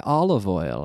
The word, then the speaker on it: olive oil: I buy olive oil. Aceite. Olive oil. Olive oil. With the V pronounced.